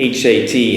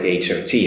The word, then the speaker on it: hat: Now, you have to be careful because a lot of times students may come up with the word hat pronounced like hot. Now, you can't do that because that sounds like H-O-T, hot. So, one more time in